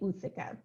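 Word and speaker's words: ootheca: of the day um there's some debate on how this word is pronounced so for today we're going to say uthika uthika and uthika is an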